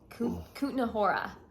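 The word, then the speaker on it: Kutná Hora: actually left the city and we went to Kutna Hora. Okay. That's how you pronounce it.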